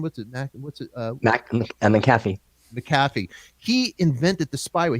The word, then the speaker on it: McAfee: McAfee.